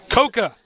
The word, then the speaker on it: Coca: remember last week koka say his name is coca because he likes coca-cola i like coca-cola